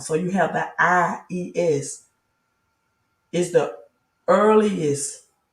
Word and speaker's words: Ies: So the name Jesus cannot be accurate, neither is Yahweh and Yeshua accurate. It is actually Ies, Ies, I-E-S.